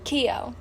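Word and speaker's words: Keough: Keo. Clark? Huh? Keo.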